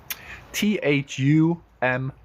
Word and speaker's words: thumb: Thumb. Thumb. How to pronounce thumb? I told you just now, H makes it soft. TH. Thumb. Thumb. Silent B.